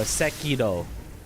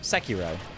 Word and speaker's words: Sekiro: to describe it, but it's like it's a slightly different R sound. But or Seido would be the the true pronunciation, but close enough is Seiro without trying to sound like you're trying way too hard to pronounce it with a Japanese accent.